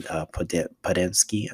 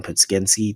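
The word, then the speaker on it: Podziemski: made the lineup changes, adding Podensky, make sure I say his name right, actually, adding Podskensky to the starting lineup.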